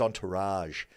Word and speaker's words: entourage: from the event together Entourage I think it's Entourage it's like a French word it's almost it's a soft G are you sure yeah not it's a soft G not a hard G on I was in